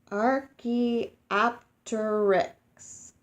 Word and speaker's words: Archaeopteryx: the line all right say it like this Archaeopteryx Archaeopteryx Archaeopteryx was the first bird it had